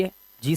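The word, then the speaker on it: hedge: जी से पहले आया डी, साइलेंट। जैसे यहां पर देखिए जी से पहले डी है, जी से पहले डी है, जी से पहले डी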